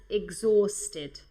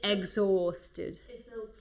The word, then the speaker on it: exhausted: Yeah, I understood excited, which would be like ilusionada, but you wanted to say agotada, which is exhausted. This H is silent, okay? Exhausted.